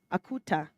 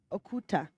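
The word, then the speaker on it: Uquutaq: Dites Akuta, Okuta, Akutak, si vous le voulez. Mais voulez. Laissez ce nom étranger traverser vos lèvres et prononcez. Prononcez ce triple U et ce double Q, car c'est un nom que je porte avec fierté.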